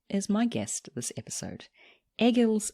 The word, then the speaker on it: Egīls: First of all, I was just going to ask you the pronunciation of your name. Yes, it's Egīls.